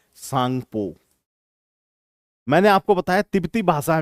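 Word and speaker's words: Tsangpo: सोगम इस तरह से तो तिब्बती जो भाषा होती है उसमें टी जो है आपका साइलेंट होता है तो इसको टी सांगपो नहीं पढ़ते हम इसे केवल क्या कहते हैं सांगपो कहते हैं जैसे हिंदी में भी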